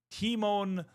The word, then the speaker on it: Timon: Timon, pronounced like Lion King Meerkat, same name.